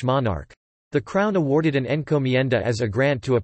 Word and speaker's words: encomienda: Encomienda, Spanish pronunciation, encomienda, was a Spanish labor system.